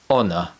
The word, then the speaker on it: honor: In addition to this, some words of French origin have a silent letter H at the beginning, such as hour, honest, and honor.